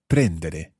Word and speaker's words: prendere: to take yeah and notice where we're putting our stress there prendere see um it's different from other verbs adverbs are normally stressed on the ending of the infinitive parlare amare guardare abitare